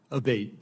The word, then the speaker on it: Abate: uh Mr Abate and am I saying your name properly we've heard it pronounced three different ways today in the hearing aate Senator aate okay thank you um you